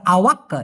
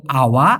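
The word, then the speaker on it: awak: ছায়া সুডাহা বেলি মানে আমি অলরেডি কিনেছি উনতুক আওয়ার জন্য আপনার অথবা আপনার জন্য আর কি এটা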